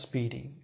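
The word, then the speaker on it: SPDY: Now, first of all, this protocol called Speedy, Spy, pronounced Speedy.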